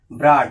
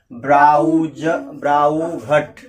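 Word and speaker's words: brought: इसे यहाँ आ पढ़ेंगे, डा ब्राट। ये क्या है? ब्राट। ये जीएस साइलेंट। अगर पता नहीं तो क्या पढ़ते हैं? ब्राउ घट।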